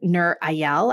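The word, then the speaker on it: Nir Eyal: there's a great author Nur ayal I think is how you I don't know if that probably totally butchered his name n-i-r-e-y-a-l but he's written a couple great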